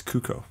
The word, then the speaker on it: Cuco: even know how to pronounce it how to pronounce cuco it's cuco okay today we're gonna make a cuckoo beat